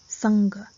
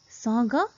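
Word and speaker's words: साँघ: chandrabindu it is pronounced saga and if there is sirabindu it is pronounced sangha both are correct either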